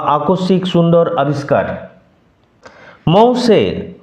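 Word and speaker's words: mon cher: মৌসে, নট মট চের, এরকম উচ্চারণ হবে না। মৌসে, সিএইচ উচ্চারণ এখানে এসএইচ এর মতো।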